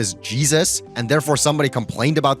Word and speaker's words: Jesus: The name of the character he's referencing is pronounced Jesus in the movie, not Haysoos.